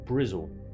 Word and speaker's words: Bristol: you too sir from brizl Bristol as its properly pronounced it's going alright it's